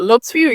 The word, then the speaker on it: Lauture: So our guest speaker is Lauture. Is that, did I pronounce that correct? With Lauture, yeah, but Lauture, you said it right away.